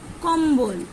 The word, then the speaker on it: কম্বল: তাহলে দেখো এখানে বয়ের উচ্চারণ স্পষ্ট।